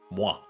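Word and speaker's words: moi: Well, Spider-Man, of course, originally, but why is just the French uh pronunciation of the word meaning me, myself, and I. Mwah. It's not the kiss sound effect like a lot of people have thoughts of at first.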